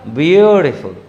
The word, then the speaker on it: beautiful: ध्यान से देखिए, ब्यूटीफुल, व्यू यानी ऊपर की ओर, टी नीचे की ओर और फुल बीच में, इसका उच्चारण होगा ब्यूटीफुल।